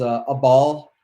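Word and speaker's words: אבל: from each other, the word that's used is a ball in the Hebrew, or Abal, Abal, is how you spell it.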